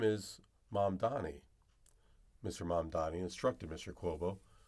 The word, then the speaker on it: Mamdani: New York City, and his rivals had trouble, consciously or not, pronouncing his name during televised debates. In a moment that launched 1,000 memes, Mr. Mamdani memorably corrected former Governor Andrew Cuomo for repeatedly referring to him as Mr. Mandami.